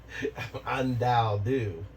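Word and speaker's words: Undaodu: Undao-do. Can you spell my name? The AI can spell the user's name. It is spelled U-N-D-A-O-D-U. And it's pronounced? It's pronounced undao-do.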